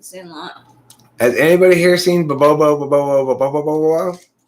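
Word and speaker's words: Bobobo-bo Bo-bobo: Bo bo bo bo bo bo bo. That's how it's pronounced. Bo bo bo bo bo bo bo.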